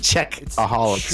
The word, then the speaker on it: Czechaholics: czechaholics Anonymous to Czech it's pronounced czechaholics ANM he's check he's he's he's a wild and crazy check so so